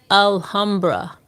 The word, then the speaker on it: Alhambra: Am I pronouncing that right? Alhambra. Hey, Alhambra. Yes, Alhambra. Alhambra is the name of the place.